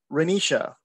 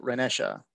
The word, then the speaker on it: Renisha: So Renisha, or is it Renesha? However it's pronounced, and please correct me, please tell me how it's pronounced. You're next. It's pronounced Renisha. You were correct the first time.